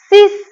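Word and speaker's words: six: ای و ان تلفظش هست ا ان پس میشه سنگ سنگ عدد ش سیس سیس شبیه شش انگلیسی نوشته میشه اما ایکس رو اس تلفظ می‌کنیم سیس سیس فکر کنم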